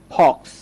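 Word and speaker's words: fox: ঠিক তেমনি করে ধরেন আমরা বলতে পারি ফক্স। খেয়াল করেন ফক্স মানে হচ্ছে শিয়াল। তো এখানেও আমরা দুইটা কনসোনেন্টের মাঝে ও পাচ্ছি, তাই অ এর মতো উচ্চারণ করছি।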